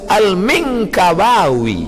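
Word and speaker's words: Al-Minangkabawi: Saya masa tengok apalah cara baca ni, alif lam mim nun kaf ba alif waw ya, rupanya lama saya baca Al-Minkabawi, Minangkabau. Syekh Ahmad Khatib Al-Minkabawi, nama dia Ahmad Khatib.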